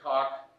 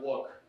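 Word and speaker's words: Quoc: Hi, my name isn't Cock. It's pronounced Wook.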